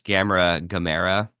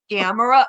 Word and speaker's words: Gamera: Or when they pronounce Gamera, I'm like, no. Gamera, yeah.